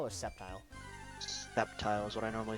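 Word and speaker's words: Sceptile: You say Skeptile or Septile? Septile is what I normally say. You pronounce the C. C, not it's a C, not a K. So I say Septile. Uh, like a scepter.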